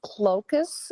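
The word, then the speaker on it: Klocks: was was looking into Alice clus if that's I'm pronouncing it KL o k s he's the co-founder of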